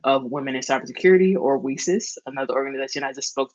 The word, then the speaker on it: WiCyS: We often go by our acronym, WiCyS, spelling it WiCYS, and pronouncing it WiCyS, like we sisters, because we're a global cyber sisterhood.